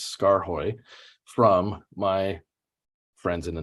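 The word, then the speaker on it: Skaarhoj: And yes, I figured out how to pronounce Scar Hoy from my friends in the Netherlands.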